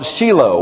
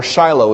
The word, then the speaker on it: Shiloh: the tabernacle at a place called sheilo or Shiloh as we often pronounced it sheilo Shiloh and the ark was